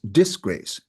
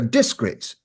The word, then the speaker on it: disgrace: no it isn't because we don't pronounce disgrace as disgrace you're a disgrace disgraced you're dis you're disgraced okay that's right so that's